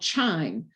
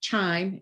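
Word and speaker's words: chyme: of a thick liquid it's called chime c-h-y-m-e so if you think of chime rhymes with slime and that's really what's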